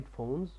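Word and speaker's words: phones: هي المفردات الرئيسيه اول كلمه عندي هنا هي فونز بمعنى سماعات الاذن وطبعا نخلي بالنا ان البي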